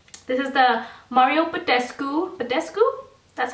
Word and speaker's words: Badescu: things about this this is the Mario Badescu Badescu that's how you say it drying lotion it